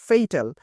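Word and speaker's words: fatal: যেটাই বলি না কেন সঠিক উচ্চারণটা হলো ফেইটাল কিন্তু আমরা বলি ফাটাল তো ফাটাল এটা যখন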